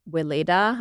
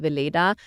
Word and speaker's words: Weleda: I do love, any good body lotions, especially the ones, there's a brand called Weleda. I think that's how you would pronounce it here in the US. In Germany, it's called Weleda.